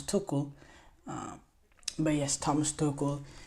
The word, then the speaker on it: Tuchel: TL's name wrong some I always say Thomas Tel it's Thomas tokle um but yes Thomas